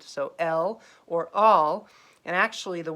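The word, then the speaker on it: אֵל: god a singular god is an l it's pronounced l i wrote it correctly this time it's read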